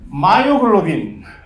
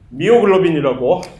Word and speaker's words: 마이오글로빈: 얘기를 할 수 있는 마이오글로빈 미오글로빈이라고 발음을 하기도 하는데이 마이오글로빈 사실 근육에서 산소를